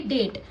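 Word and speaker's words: date: अब ये वाला वोवेल्स जो है हमारा वो क्या है? साइलेंट। ये वाला वो हमारा क्या है? साइलेंट ठीक है ड ए ट डेट ई की वॉइस नहीं आ रही ठीक है ऐसे ही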